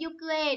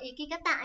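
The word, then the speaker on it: 行方: Hành tung biết rồi đấy, yukue. Đúng rồi, chứ đừng đọc là ikikata nhá. Ikikata, tabe, kata phải có chữ kia ở giữa cơ. Phải đọc là yukue. Chứ không có hôi ở đây cả, không có iki gì đấy hết. Nhớ, nó là yukue, hành tung, đúng không?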